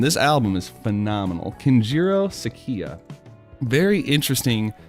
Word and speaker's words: Sakiya: named keru Sakurai yes I said his name wrong Sakia not Sakurai see true waken base